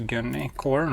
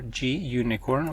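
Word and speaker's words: Gunicorn: during development that is gun corn or G unicorn which is really it's how it's pronounced um I need to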